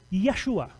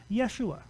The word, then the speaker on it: Yeshua: so you have in the Hebrew the word Yeshua so you so you have the name Yeshua well the Greeks don't have those letters so